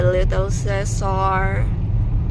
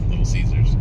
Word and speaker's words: Little Caesars: I think in your price cutter, they have the little cares right lobby. Little Caesars. Little Caesars. Did I pronounce it correctly?